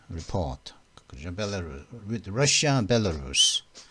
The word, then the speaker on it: Belarus: Belarus with Russia, Belarus. 벨레루스는 벨라루시죠. 벨로루시라고 그러죠. 우리는 보통 벨로루시라고 그러는데 벨레루스라고 그러면 벨레루스. 발음은 벨레루스라고 하는데요. 미국은 말이죠.